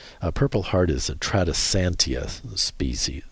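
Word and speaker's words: Tradescantia: Uh, purple heart is a trisantia species. U genera. Uh, it's spelled T R A D S C A N T I A.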